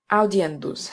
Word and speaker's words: audiendus: Audiendus has 4.